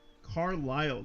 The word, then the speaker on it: Carlisle: Kid Fox says the S is silent in the name, aka Carlisle. Gotcha.